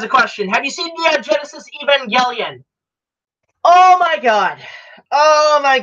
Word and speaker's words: Evangelion: seeing all the history with this show like Evangelion and how it kind of turned out like Robin Williams knew of the damn Joanie you mispronounced that is Evangelion how you know the same